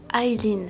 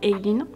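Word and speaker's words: Eileen: Mon nom c'est Aileen, ça s'écrit E-I-L-2-E-N, ça se prononce Aileen. Je ne comprends pas les gens qui m'appellent Aileen, mais je le répète encore et encore, c'est Aileen.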